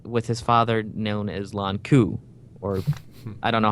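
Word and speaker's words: Lon'qu: Second time, I got Owain with his father known as Lon Ku, or I don't know how to say it, but it's LON''QU. So I think it's Lon Ku. I think Lon Ku is right, yep.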